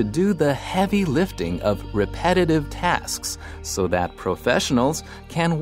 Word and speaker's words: repetitive: incentives。额外的奖金跟假期经常被用来当作提升工作表现的奖励方式。继续我们看 repetitive 这个形容词 ,re 这个字首是指再一次 ,pet 这个字根有追求的意思。所以 repetitive 是指重复性的或者是反复的。注意它的重音是在第二个音节念成 repetitive。例如 ,after the first few episodes, the show became boring and repetitive.